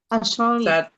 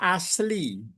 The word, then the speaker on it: asli: Asali. Iya. Itu bacanya asli.